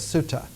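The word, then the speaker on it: sutta: were called sutras usually the old pronunciation was in pali not in sanskrit and pali is a sanskrit with a southern accent so it was suta the sutas collected together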